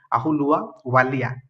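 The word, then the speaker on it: Ahluwalia: ठीक अच्छे, आप देखीदे प्रोनाउंसिएशन। ठीक अच्छे, से ऑप्शन नंबर बी हूँ करेक्ट, मोंटेक सिंह अहुलुआ वालिया।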